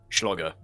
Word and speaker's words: Schlogger: Up against Blue Alliance's Runner, Q-Anvil Conqueror, and Schlogger. That's the canon pronunciation. There was just one error in the pronunciation of the Schlogger? fleet, and he put an S on the front of it, and then we got